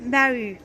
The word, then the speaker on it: bahuts: E ali, nós vamos ter deux bahuts. Aqui nós vamos ter dois baús. Sim, é a mesma pronúncia do que em português.